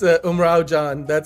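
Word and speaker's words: Umrao Jaan: You can pronounce it. It's Umrao Jan.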